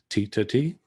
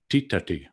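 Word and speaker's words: tiṭṭhati: dentals but in fact the correct pronunciation and spelling of that verb is with the retroflexed consonants and so it sounds a bit more like titati and so it has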